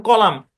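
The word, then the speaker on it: column: আচ্ছা খেয়াল করেন, শব্দের শেষে, শুরুতে না, শব্দের শেষে এম এন থাকলে এন, এনটা সাইলেন্ট। যেমন কলাম, কলাম মানে কি, কলাম বুঝেন তো, পত্রিকার কলাম থাকে, বিল্ডিং এর কলাম থাকে, কলাম।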